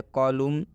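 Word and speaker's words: column: में बता दें कि यदि एम के बाद एन आता है तो यह एन साइलेंट हो जाता है, मतलब इस एन का उच्चारण नहीं करना है, नहीं पढ़ना है, हम एम तक ही सीमित रहेंगे।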